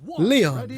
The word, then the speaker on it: Lion: Next up, we have Leon, and even though it's spelled lion, it's pronounced Leon.